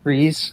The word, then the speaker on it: Fries: I think it's Freeze, isn't it? Victor No, that's how he spells it. Yeah. Yeah, that's how they spell it in the. Yeah, his actual name is Freeze, and that's how he spells it.